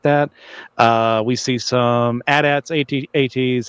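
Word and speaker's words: AT-AT: Uh, we see some addats at ATS, however you want to pronounce it. I've always said addats.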